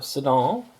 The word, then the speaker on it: Sedan: in the town of Sedan, or Sedan, if you want to pronounce it like a Frenchman would, after the battle in 1940, and after the Germans had captured the town.